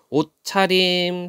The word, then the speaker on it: 옷차림: 옷차림. 자, 실질적 의미를 갖고 있죠. 차림이라는 말은 또 모음도 아니다. 모음도 아니고 실질 의미가 있어요. 그럴 때 시옷이 디귿으로 칠종성으로 음절의 끝소리 규칙을 적용해서 디귿으로 발음합니다.